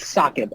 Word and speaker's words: SAAKB: It's pronounced SAAKB, actually.